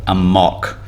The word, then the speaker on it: amok: even more classically cambodian which is called a mock and it's spelt like a mock you know am ok